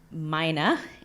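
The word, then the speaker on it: mynah: It's called a myna, and having an American English accent, I learned that it's spelled M-Y-N-A-H, which is much different than miners, like the people that mine, and then also minors, people that are not of age.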